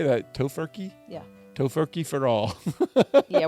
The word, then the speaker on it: Tofurky: Tofurky?